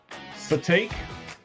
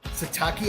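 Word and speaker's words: Sitake: Keani Satake. So, it's Si T A K E. Uh, Satake. His real name is Kiaoa Kalani. Cool. But he goes by Khalani Satake, I guess.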